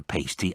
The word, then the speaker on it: pasty: I've never had a pasty I don't even know what it is it's the official specialty of moose County dating back to mining days quillin said and it's pronounced to rhyme with nasty by the way I